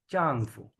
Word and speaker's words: 丈夫: फू साइलेंट नहीं है बच्चे। फू बेसिकली न्यूट्रल टोन है ना, तो न्यूट्रल टोन को हम हमेशा बहुत शॉर्ट और लाइट पढ़ते हैं।